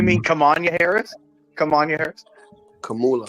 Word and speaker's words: Kamala: Kamanya, you mean Kamanya Harris? Kamanya Harris? Kamala.